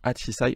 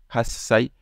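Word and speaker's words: 八歳: loksai nanasai et pareil on va pas dire atisai on va dire hasai donc voilà ça si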